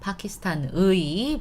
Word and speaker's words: 파키스탄의: So, 파키스탄의 수도는 파키스탄의, but we pronounce it A, right?